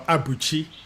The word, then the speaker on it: Abuchi: Abuchi or Abuchi, as it's correctly pronounced.